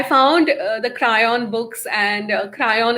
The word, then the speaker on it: Kryon: the crayon books and crayon is spelt with k-r-y-o-n right and one of